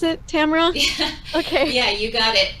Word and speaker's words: Tamara: week's guest tamara is that how you pronounce it tamara okay yeah you got it you got it